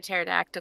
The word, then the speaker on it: pterodactyl: can't you hear a pterodactyl go to the bathroom why can't you hear because the p is silent um you're not